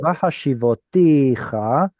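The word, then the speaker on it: וַהֲשִׁבֹתִיךָ: Vahashivoticha. What's the cha? You, What's the t? I, What's the va? will. Why isn't it va? It's a vowel Harmonization.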